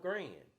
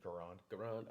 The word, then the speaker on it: Garand: Can we make an M1 Grand? Garand, did I say it wrong? Correct. Garand. Okay, thank you.